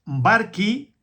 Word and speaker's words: Barchi: Y este libro fue publicado en el me lo mandó Juan Carlos Barqui. Se escribe Barchi en italiano, del 9 del 19 del 12 del 95.